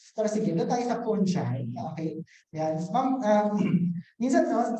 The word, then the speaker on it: fungi: Yeah, so sabi kasi ng mga Germans, fungi daw yun, hindi raw fungi. Kasi nga, yung pag, kunwari, paano mo ba ipopronounce yung singular form ng fungi? Di ba, fungus? O, di ba? Pinalitan mo lang yung US, naging G, naging J na yung G, no?